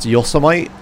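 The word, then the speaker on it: Yosemite: car there's the bridge it's pronounced yosmite yeah I know that's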